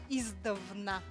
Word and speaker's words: издавна: А может быть, вы путаете со словом издавна. Но даже может быть. Может быть так, да, вот потому что издавна ударение на первый, да, слог, а издревле как бы вот на средний, да, слог.